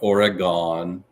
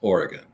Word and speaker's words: Oregon: They don't know how to pronounce it. Oregonians, no, it is not Oregon. It is Oregon, right?